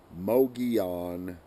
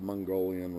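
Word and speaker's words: Mogollon: I'll say it for I'll pronounce this properly for everybody out there Mogi on rim not the mongolian rim not the Magdalen rim the Mogi on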